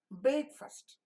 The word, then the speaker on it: breakfast: goes very fast but when you say breakfast you don't say fast you say first why because this is the accented syllable and this is the